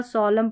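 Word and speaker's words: solemn: Autumn म न नहीं कॉलम पढ़ा, सोलम पढ़ा, डैम पढ़ा। डैम। तो इस तरीके से आपने ये याद रखना है कि एम एन के कॉम्बिनेशन में एन साइलेंट रहता है और लास्ट में रहता है ये कॉम्बिनेशन।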